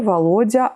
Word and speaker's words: Volodia: Ici, je le dis avec la prononciation russe, ça va être Vladimir, Volodya, Vova.